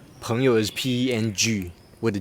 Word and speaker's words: 朋友: Pengyo. Yeah. The pinyin is PMG Yeah. YOU. Why are you Pengyo? 朋友.